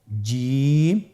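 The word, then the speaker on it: جيم: চেষ্টা করুন হয়ে যাবে এর মাখরাজ হলো জিহ্বার মধ্যখান তার বরাবর উপরের তালুর সঙ্গে লাগিয়ে উচ্চারিত হয় আপনারা পিকচারে ছবিতে দেখতে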